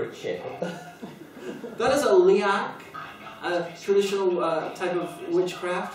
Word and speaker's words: Leak: That is a liak, a traditional type of witchcraft from Indonesia. Okay. The liak master, and it's spelled L-E-A-K, but it's pronounced liak for some reason. Instead of leak.